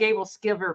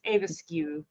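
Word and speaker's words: æbleskiver: It looks like Abel Skiver, but it's Avaskew. That's how I always heard it said.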